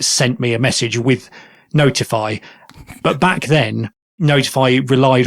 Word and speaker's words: ntfy: But then I looked into a project called NTFY, which I'm going to pronounce as Notify, which is something that I've been aware of for a few years.